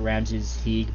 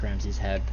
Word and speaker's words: Ramsees Hed: when I played this I was pronounced at Ramses he but I think it's actually pronounced Ramsey's head whatever we have to